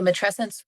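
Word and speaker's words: matrescence: Um what we know now in 2025, which is when this is being recorded, is that the so matressence rhymes with adolescence.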